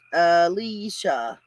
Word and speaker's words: Alessia: Nana, it's kind of pronounced Alicia. That's what I said.